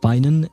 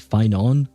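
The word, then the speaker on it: Phainon: He's supposed to be pronounced Finan, even though I keep pronouncing it Finon. Like the O at the end is supposed to be short. When I pronounce it, I make it longer for some reason.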